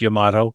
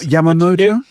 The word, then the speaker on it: Yamato: And for the record, it is pronounced Yamato. That's good to know. Yes. Not Yamamoto?